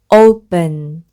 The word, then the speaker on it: open: 그래서 어우 프 어은 Open 이렇게 발음을 하는데요 우리말의 어 소리보다 훨씬 약한 어 소리라서 너무 오 이렇게 발음하시면 안 되고요 으에 가까운 어 소리입니다 발음 기호로는 이렇게 적는데요